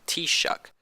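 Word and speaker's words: Taoiseach: of the government is Taos each pronounced t shucks which means chief the Taos each is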